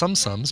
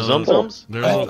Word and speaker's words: Tsum: I thought they were zooms. No, they're zums. I've been pronouncing them sums. It's TSUM, right? TSUM, yes. Yeah.